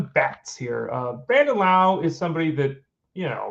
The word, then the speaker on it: Lowe: um anyway brand Lao L we but it's pronounced Lao um the second baseman for the Rays has